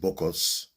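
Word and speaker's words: Bokkos: that's true it was around a place called BOS maybe that's not how you pronounce it b o k k o s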